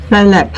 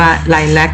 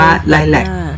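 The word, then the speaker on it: lilac: ช่าง สวย เหลือ เกิน ไลก ออก เสียง ไลค แต่ ถ้า เรา เขียน ตาม ตัว หนังสือ ภาษา ไทย เรา อาจ จะ ต้อง ออก เสียง ว่า ไแลค แต่ เสียง ภาษา อังกฤษ ออก เสียง ว่า ไแลก อยู่ เรื่อย ๆ นะ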